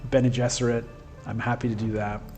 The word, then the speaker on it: Bene Gesserit: Just be happy I don't pronounce this Bean Gesserit. That's the way I used to pronounce it in my head when I read the books when I was a teenager. I've changed on that one. I've adapted to Bene Gesserit.